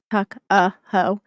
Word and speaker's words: Tuckahoe: Yes, Tuckahoe. Just it's spelled just like the way it sounds.